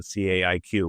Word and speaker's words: CAIQ: consensus assessment initiative questionnaire the CIQ which you pronounce like cake.